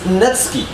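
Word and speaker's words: netsuke: Anyway, the word at the end is netsuki, which is interesting, because you don't pronounce the second U, always.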